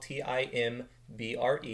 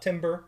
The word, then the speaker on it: timbre: It's spelled T-I-M-B-R-E. It's not timbre. It is timbre.